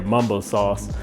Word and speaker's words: mumbo sauce: thighs with capital city mambo sauce and this is the hot and sweet version now if you're not familiar with mambo sauce or as it's pronounced in the dc and virginia area mumbo sauce it's a sauce that